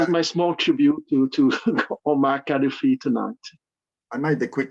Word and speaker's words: Gaddafi: I would like to give a small tribute to Omar Gaddafi, or I think in English you pronounce Gaddafi, like a G.